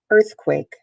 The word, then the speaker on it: earthquake: or three for you earthquake an earthquake there's the pronunciation earthquake two syllables it's a compound word by the way you'll be seeing that more next week earth is where the emphasis is quake it's a noun